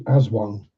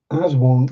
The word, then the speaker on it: Aswang: Yeah, so the Aswang is based or spelt with A's as Wang, pronounced as Wong.